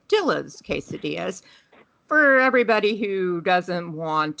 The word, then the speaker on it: Dillas Quesadillas: today's feature chain it may look like it's pronounced D's casadas but it is actually said Dill's casadas for everybody who doesn't want to uh appear